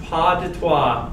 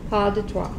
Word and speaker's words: Pas de trois: Isn't there a phrase, pas de trois? Doesn't that mean a two-step? No? Okay, so I'm completely mispronouncing.